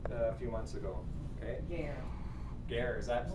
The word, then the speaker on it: guerre: I talked about nom de gras a few months ago. Okay? Guerre. Guerre, is that how it's Guerre, pronounced?